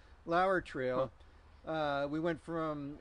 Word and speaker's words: Lower: it would be lower ello wer but it's pronounced Lauer Lauer trail we went from it's along the Juniata